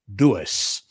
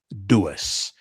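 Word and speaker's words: doos: In Africans, we have a word pronounced dois.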